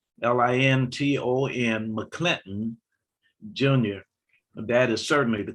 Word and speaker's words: McClinton: Uppercase M, lowercase c, uppercase C, Linton, McClinton Jr. That is certainly the correct pronunciation, but the number of people who came